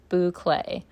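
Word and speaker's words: bouclé: While I'm opening this, I literally just went to Google to see how to pronounce this yarn name, and it says that it is a French word, Boulcé.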